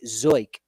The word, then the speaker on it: Zeuch: Nicholas Kuzia, and TJ Zoik. Zeuch. Zoik. I like that. That's a good one. I wonder how many different pronunciations we'll actually get of that, but Baseball Reference says Zoik.